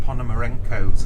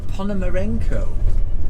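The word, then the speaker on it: Ponomarenko: past Paloma Beach on our way to Mr Pon Moreno's Villa pomaro I bet you can't spell that p o n o m a r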